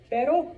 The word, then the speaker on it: pero: Okay, so pero or perro.